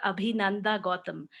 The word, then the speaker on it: Abhinanda Gotham: dr here uh you can properly pronounce me as dr abhinanda gotham dr is also fine today we are going